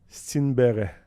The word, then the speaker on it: Stenberg: Puis c'est pas Ouais. de même que ça se prononce, mais c'est de même qu'on va le prononcer dans la NHL. Là. parce qu'on devrait dire... Stenberg.